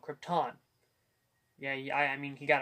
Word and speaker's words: Krypton: I have is that he pronounces Krypton wrong he says Krypton it's called Krypton yeah I mean he